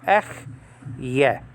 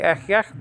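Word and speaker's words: אהיה: I, like I am, that hey is not to be pronounced. So it's actually ech yeah. Sometimes we say ech yech, but I mean it's actually ech yeah.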